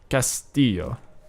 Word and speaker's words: Castillo: And the map we're going to be on is Castillo. Castillo. That's how you say it.